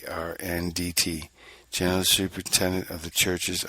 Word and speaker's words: Arndt: chiefly by the excellent John Arden, that's Arndt, General Superintendent of the churches under the princes of, it's spelled Lunenbourgh.